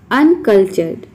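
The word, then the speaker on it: uncultured: कभी भी TURE एक साथ आता है तो इसको हम चर प्रोनाउंस करते हैं।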